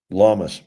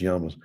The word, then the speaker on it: llamas: Um llamas. We have might say yamas. They're actually pronounced yamas.